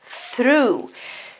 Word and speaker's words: through: Obviously, th, because you have th here, then the r, and then all this part here, which is o, u, g, and h, is just pronounced as oo. Very simple. The GH sound at the end is mute.